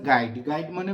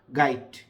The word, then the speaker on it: গাইট: তারা এটার উচ্চারণ করেছে গাইড গাইড মানে বোঝেন তো ওই যে স্কুল কলেজের যে আপনার বই বইটাকে বলা হয় গাই লাস্টে ড বেসিক্যালি এটার উচ্চারণ হচ্ছে গাইড ট লাস্টে ট গাইট গাইড অর্থ কি আবার